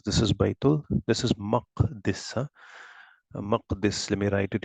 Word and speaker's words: Maqdis: Now this is not Muqaddas that we read it as Baitul Muqaddas. No, it's Baitul Maqdis. That's how the right pronunciation will be.